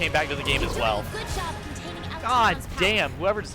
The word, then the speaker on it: Alatreon: So I'll be saying Alatreon then, properly.